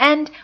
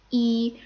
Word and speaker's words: 一: Now, normally when it's pronounced, E takes the first tone. However, E will take the second tone when directly preceding a fourth tone. So something that was originally 1-4 becomes 2-4.